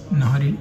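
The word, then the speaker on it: نہاری: দেখাবো আমাদের principal item এটাই মাটন নাহারি অনেকে নিহারিও বলে বাট এখানে একজন ওয়েটার কে জিজ্ঞাসা করলাম ভেরি সিনিয়র উনি বললেন নাহারি একচুয়ালি উচ্চারণ আমি হাফ প্লেট নিয়েছি এটার দাম ৳350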